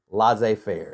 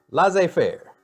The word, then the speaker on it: laissez-faire: So there's government control and what's called Laissez Faire, and it's actually spelled like Lassize fair. Is it French or something? It is French.